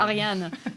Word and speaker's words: Ariane: I am also half French, so it's Ariane. Ariane.